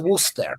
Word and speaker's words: Worcester: Because in English, you write Gloucester and you pronounce Gloucester. You write Worcester, you pronounce it Worcester.